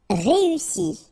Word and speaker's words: réussi: Réussi. Okay, first you get this E, then U, and double S, so a really strong S, and I. Réussi. Réussi.